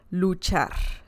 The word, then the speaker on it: luchar: to pronounce I mean luchar you only need to remember the CH sound just like you say chese it's the same CH sound so l l l